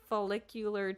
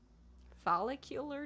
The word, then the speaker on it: follicular: physical stimuli such as folicular tension capillary numbness and more great work a lot of hard words there did I read I pronounce it right I think so follicular tension no like follicles yeah like follicular folicular fular